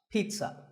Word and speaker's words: pizza: no sound in this word it's Pete son pizza another food word that's mispronounced a lot is vegetable it's not vegetable